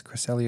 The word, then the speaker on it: Cresselia: Cresselia Cresselia okay nice Cresselia is how you say it thank you Shauna um